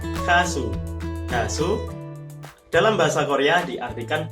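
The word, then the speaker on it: 가수: Giok ditambah a, siet ditambah u, dibaca kasu.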